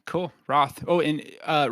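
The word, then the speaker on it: Wroth: Roth. Oh, and uh Roth spelled with a W also for those that are just listening to this. W R O T H.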